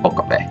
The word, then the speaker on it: Okabe: forgive, and that is how badly he pronounced Okabe. Like, he pronounced it as if there were a double A in his name.